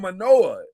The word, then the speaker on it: Mauigoa: I'm like, everybody said Manoa. How is that Manoa? There's not an N anywhere in sight.